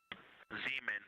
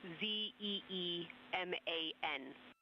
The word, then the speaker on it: Zeeman: Zeeman, okay. Now, can you say the first letter? I may be pronouncing that wrong. What's the first letter of that word? Zulu. It's z e e m a n.